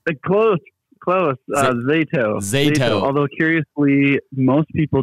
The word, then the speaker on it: Zato: of, I'm going to not pronounce this correctly, ZATO. Is that correct? Close. ZATO. ZATO. Although, curiously, most people do pronounce it ZATO the first time around.